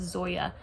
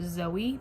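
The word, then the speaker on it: Zoje: I looked up how to pronounce it. I heard her say it. I'm pretty sure it's Zoya. In my October TBR, I said Zoe because I just thought maybe the J was silent.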